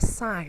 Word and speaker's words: sign: is the word sign the word sign is spelled as as IGN but why do we pronounce it a sign or in fact there